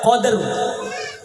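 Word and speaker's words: قدر: lailatil Qadr lailatil Qadr cara baca kalau di Bua Qadr tafhim sambil belajar ya ro dibaca tebal Qadr nah Qadr inna anzalnahu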